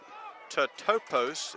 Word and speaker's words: totopos: fair no Googling but to topos is the correct pronounce okay and that is